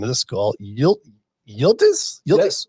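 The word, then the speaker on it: Yıldız: Yildiz?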